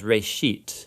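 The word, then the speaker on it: רֵאשִׁית: of it's called genesis genesis comes from a hebrew word uh it's pronounced ray sheet uh and it just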